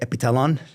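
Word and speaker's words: Epithalon: Is it thalin or talon? The Russians say epitalon. It's the way they say it, but it's spelled with a TH.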